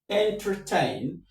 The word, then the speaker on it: entertain: So, the root is entertain. Entertain, re re me, the stress is on tain.